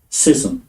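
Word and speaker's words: schism: h the the the the sound sism sism really just sism okay okay making a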